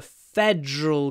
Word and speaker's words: federal: the next one the federal government is responsible for defense policy so feder Federal fedal two syllables F Federal the fedal